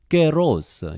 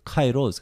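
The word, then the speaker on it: καιρός: 그리고 이 때라고 하는 이 에트는 깨로스, 현대 그리스어로 발음하면 깨로스가 되겠는데 이렇게 번역을 했어요. 깨로스. 신학교에서 일반적으로 카이로스 그러는데 지금 그리스 사람들은 깨로스 이렇게 발음합니다.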